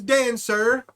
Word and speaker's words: Dan Sur: His name is Dan Sur. Not to be confused with Dancer, the reindeer.